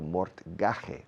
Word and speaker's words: mortgage: A mortgage, escrito mortgage, pero se pronuncia mortgage, a mortgage is an hipoteca.